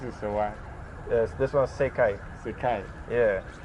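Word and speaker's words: 世界: So Yeah, how this do you world, pronounce these this? two is like Sekai.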